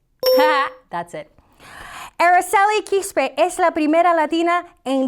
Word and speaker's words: Aracely Quispe: Aracely Quispe, NASA engineer. That's right. This one's out of this world. I couldn't resist. Aracely Quispe, Aracely, in more English pronunciation, Aracely Quispe is the first Latina to command 3 NASA space missions.